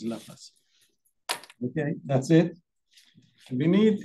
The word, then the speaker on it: Laplace: Some people they say Laplace, but the French pronunciation is Laplace.